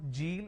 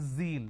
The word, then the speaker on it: zeal: john it is zone it's not g it is zeal it's a z sound another mistake that people